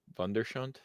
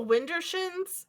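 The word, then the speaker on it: Widdershins: And it's a word I've been trying to pronounce in my head. Wunderschönd? I can't. Perfect name again. The Windershins? Windershins, yes. Are you trying to say Windershins? Yes, except I said the word for beautiful instead in German.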